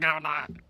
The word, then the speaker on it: Kamala: So, yeah, I'm voting for fucking Kamala. In America, if you don't vote, they kill you. It's pronounced Kamala, though. Oh, my God. It's pronounced Kamala.